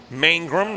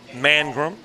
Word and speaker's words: Mangrum: for the pronunciation guide Mangrum not mangram so main room coming